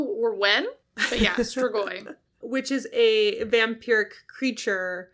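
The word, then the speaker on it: strigoi: I've heard it pronounced stragoi. Don't ask me how or when. But yeah, stragoi.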